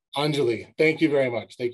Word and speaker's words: Anjali: Hi, yes, and you pronounce it Anjali. Anjali, thank you very much.